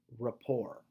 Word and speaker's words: rapport: the first word is rapport now I know that there's a T at the end but typically we don't say the T so let me pronounce that one more time for you rapport so rapport is the